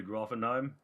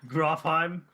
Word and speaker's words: Grofheim: And you're going to Grofenheim? You put a whole other syllable in there. Grofheim.